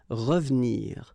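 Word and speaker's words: revenir: what we've been seeing because it's the second syllable so you've got r and then but then clearly you don't pronounce it so you get ravnir ravnir okay same thing here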